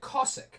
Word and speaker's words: Cossack: But we pronounce it Cossack now instead of Kazakh.